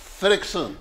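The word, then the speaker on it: Friðriksson: Yeah, and I cracked up when I came to the surname because the surname is spelled Friorikson. Don't ask me. How do you pronounce that? Fredriksson. Fredriksson.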